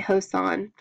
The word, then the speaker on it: Joseon: The chosen, oh, the Hosan, it's spelled Choson, so I'm going to say, I'm going to say Joseon, or Yi Dynasty, was